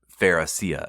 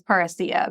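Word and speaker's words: parrhesia: I think the pronunciation is parousia, but I could be wrong about this, but this is what I'm sticking with.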